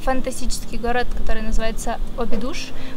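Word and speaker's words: Óbidos: фантастический город, который называется Обидуш. Вообще-то португальцы произносят его как-то вроде Обдж. Обдж. Но я не португалка, я не знаю, как правильно, поэтому я говорю Обидуш, как читаю, в общем-то.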